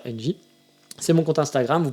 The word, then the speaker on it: NGEE: Toujours pareil, vous savez, il y a mon Instagram qui existe, donc qui est NGEE, on prononce ça NJ.